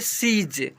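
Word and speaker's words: siege: एस आई ई जी ई इसे पढ़ेंगे सीज।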